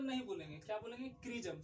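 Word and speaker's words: chrism: यहाँ पे हम इसको क्रिज्म बोलते हैं। क्या बोलते हैं, क्रिज्म। यहाँ पे चिरिज्म नहीं बोलेंगे, क्या बोलेंगे, क्रिज्म। सी एच का उच्चारण यहाँ पे आपको क आएगा।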